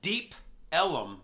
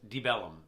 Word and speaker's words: Deep Ellum: It's Deep Ellum, but Yeah. everyone just says Debellum. Yeah. Almost like one word, Debellum. Yeah. Like with a B.